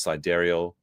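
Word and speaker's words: Sideræl: Grimes told Vanity Fair in March the baby's name is pronounced Sidereal, but nicknamed Y.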